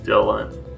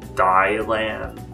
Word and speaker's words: Dylan: oh and Dylan but I spell my name d y la and like Bob Dylan and people also pronounce it a dial and like really really never